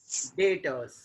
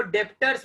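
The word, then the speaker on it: debtors: डेटर्स, इसमें भी B silent है, इसको डेप्टर्स मत पढ़ना, डेप्टर्स नहीं होता, डेटर, बी साइलेंट।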